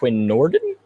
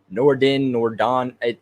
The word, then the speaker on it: Nordin: for the UDFA kicker, Quinn Nordin? I believe that's how you say it. I've heard it Nordon. I'm just gonna go with Nordin, Quinn Nordin.